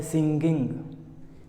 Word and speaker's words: singing: इसको लोग बोलते हैं सिंगिंग। इट इज़ नॉट सिंगिंग, इट इज़ सिंगिंग। दोनों में गा का उच्चारण नहीं आएगा।